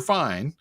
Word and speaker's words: fine: hear and it says fine italian word for finish in english it says fine i guess if you finish you're fine but in italian it's fine and at the beginning